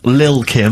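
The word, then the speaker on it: Lil' Kim: Now, Steve, I see there it's a track by Lil Kim. But how are you pronouncing it? I'm pronouncing that correctly, Lil Kim. Oh, no T's involved.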